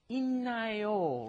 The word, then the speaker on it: 있나요: Normally you think 있다, it's like a D, right? But then when you combine a D plus an N, it turns into 있나요, right?